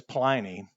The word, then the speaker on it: Pliny: Now, his name was Pliny. I call it Pliny because it rhymes, call him that because it rhymes with whiny.